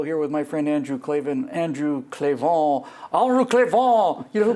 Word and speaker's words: Klavan: Klavan, is that K-L-A-V-A-N? No, it's C-L-E-Q-U-E apostrophe V-A-U-G-H-N. It's Klavan. It's pronounced Klavan.